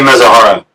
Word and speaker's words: Mizuhara: How do you pronounce Ippei's last name? Ippei Mizuhara.